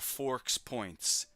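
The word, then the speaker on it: FoRPoints: And when you pronounce it, it's Forks Points or Forks Points if you say it fast.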